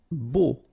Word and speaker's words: beau: Beau. Okay, so remember we've got this strange combination of vowels, A, U, so three vowels, but then phonetically it's only O.